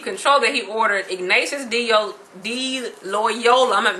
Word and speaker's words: Loyola: pronouncing their name um Ignatius D Loyola kind of like Crayola but it's Loyola who um he he